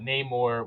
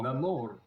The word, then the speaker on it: Namor: you have to Yeah, do the rolling of the R's now. Namor.